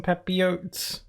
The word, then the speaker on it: papillote: some sea bass on papillote wait I forgot how to say it again made some sea bass some peppy oats the L silent squishma duck is gonna